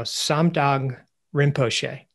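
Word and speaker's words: Samdhong Rinpoche: if I mispronounce this, please let me know. Samdang Rinpoche. That's right.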